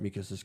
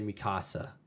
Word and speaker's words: Mikasa: But they really messed up Mikasa's character.